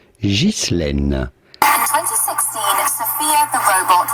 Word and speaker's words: Ghislaine: Now in French, this is normally pronounced Ghislaine.